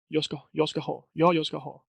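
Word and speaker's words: jag ska ha: So almost is not you cannot even hear it, the G. Sometimes they can say yoska ho, but when you hear the G, it's when they are saying it slowly, and that's why I often recommend for your own sake, to not say it.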